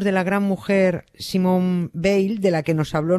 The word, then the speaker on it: Veil: dos francesas y hombre si fuéramos franceses pues seguramente pronunciaría de manera distinta pero decimos Bale sí decimos ba Y